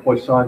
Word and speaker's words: Poisson: what's sometimes called a Poisson distribution the ideas placed on is the French word for fish I'm probably mispronouncing it really badly but I'd have to